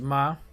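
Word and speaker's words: מם: Pronunciation is ma.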